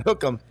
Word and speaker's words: Hook 'em: from my advisor hookum it's it's two words but you pronounce it as one hook them and you do this